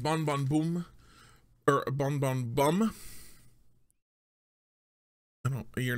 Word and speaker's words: Bon Bon Bum: But it's pronounced Bon Bon Boom. So actually, when they export this to America, they change that B-U-M to a B-O-O-M so that people don't get confused.